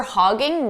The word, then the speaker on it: hogging: Now here, for hogging, notice we have ing. So I did pronounce it more like hoggin', hagen. Hogging, ing, hagen. So stressed, hogging, unstressed, hagen.